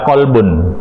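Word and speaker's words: قلب: Qulubun adalah bentuk jamak dari qolbun. Artinya ada banyak. Qolbun artinya hati. Jika kalbun adalah anjing atau anjing. Pelafalannya berbeda. Qulubihim berhati-hati terhadap mereka.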